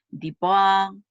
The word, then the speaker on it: Dupont: dicen que se llama Dipá, otros Dupó, Dupont, que dan distintos nombres de acuerdo a la pronunciación, que si está en francés van a decir Dupont, y va con un